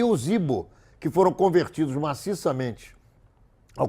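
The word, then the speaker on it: Igbo: É uma tribo na Nigéria, uma das 3 etnias mais importantes da Nigéria, se chama Ibo, I-G-B-O, Ibo, é assim que se pronuncia.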